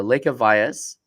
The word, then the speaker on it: Lekha Vyas: the industry so um want to introduce uh Lea Vias to the show uh and did I pronounce that correctly you actually got it right